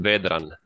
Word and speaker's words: Vedran: Yeah. My name is pronounced Vedran, like as you can hear.